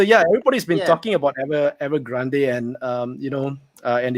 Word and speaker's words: Evergrande: Okay, let's talk about Evergrande or Evergrande. I don't know how we pronounce it in English. It's supposed to be Evergrande.